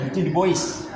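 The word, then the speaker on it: Eugène Dubois: Eugene de Bois atau bacanya Eugene de Bois.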